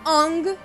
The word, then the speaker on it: Aang: A palavra Avatar é comumente pronunciada como Avatar, Sokka é pronunciado como Sokka, Aang é pronunciado Ong e Iroh é pronunciado Iru.